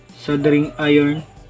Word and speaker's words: soldering: ang ating sing iron sabi ni Google silent L sing iron at p mainit na